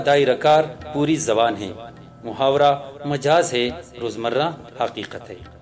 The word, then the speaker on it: محاورہ: محاورہ ملاحظہ کرتے ہیں۔ محاورہ یہ لفظ عربی زبان کا ہے جس کا صحیح تلفظ محاورہ ہے، اور مفاعلہ کے وزن پر ہے، جس کا بنیادی